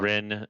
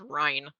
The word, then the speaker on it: Rhine: And it's spelled this. That says Rhine. It's Rin. That's like my mom spelled my name with an E at the end, and it makes people mispronounce it the same way that I just mispronounced her name.